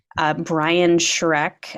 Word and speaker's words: Schreck: Brian Shrek, I know it sounds like the ogre from the movies.